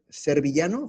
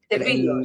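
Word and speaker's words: Servillo: se llamaba el bueno, el actor es Tony Servillano, juraría. Servilo, sí, Servilo, sí, en en Italia, Servo, o sea, como una pronunciación.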